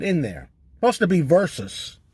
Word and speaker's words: versus: It's not verse. Versus. Versus. Okay? Godzilla versus Megalon. Godzilla versus the Smog Monster. Godzilla versus Biolante. Godzilla versus Megaganus. Godzilla versus Gigan. Versus. Not verse.